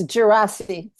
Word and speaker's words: Yaddo: Providence, VCCA, Yaddo, and I'm going to mispronounce this, Gerasi? You could help me with that one. Okay, welcome, Catherine, and please correct my pronunciation. Thank you. Thank you very much. It's Gerasi. Thank you.